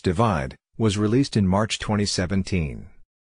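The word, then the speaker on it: ÷: album worldwide of 2015 shirin's third album / pronounced divide was released in March 2017 the album debuted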